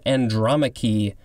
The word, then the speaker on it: Andromache: First word for this episode is andromache. I think that is how it's pronounced. Capital A-N-D-R-O-M-A-C-H-E.